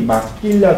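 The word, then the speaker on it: maquila: 이거 잘 기억해 주셔서 막길 발음이 마끼라 들어요 도일 공장이에요 이게 이것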